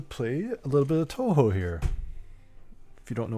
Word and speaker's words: Touhou: a little bit of Touhou here. If you don't know what that is, I can give you a quick rundown. It's basically a bunch of shooting games. It's pronounced like boot.